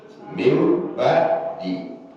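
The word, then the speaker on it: مِنْ بَعْدِ: Nun sama ba itu dibacanya min ba di. Ya, yakinlah orang itu gak pernah belajar, gak pernah belajar sorok, gak pernah belajar tajwid. Karena di atas itu ada tanda huruf apa? Mim. Mim ba di.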